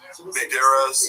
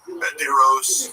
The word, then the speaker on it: Banderas: Antonio Banderas. He would, let's drop a syllable. Banderos. Banderas is good.